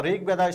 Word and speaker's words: Rigveda: of three is that the Rigveda stress is on a rig by the name of